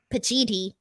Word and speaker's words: Pacitti: Pacitti.